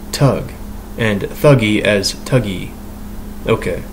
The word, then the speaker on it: thug: the sanskrit root stog s-t-h-a-g to conceal is pronounced tug and thuggy as tuggy okay so tuggy so